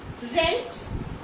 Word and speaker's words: wrench: ठीक है, W जो क्या करेगा, साइलेंट रहेगा. सो लेट us learn with example. wrangle, wrap, wrench, wrestle, wrinkle and wrap.